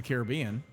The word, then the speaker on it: Caribbean: Now, the interesting thing with that specific game, Pirates of the Caribbean, because we pronounce that the same way, Caribbean, not Caribbean.